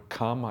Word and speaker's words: kama: There's a slight difference in pronunciation that is often missed by people who don't have an Indian background. The kamma is a double M, and it's pronounced as if kamma twice. Kama is a long A sound, and it's different.